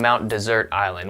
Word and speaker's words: Mount Desert Island: The island is pronounced like dessert, even though it is spelled like desert.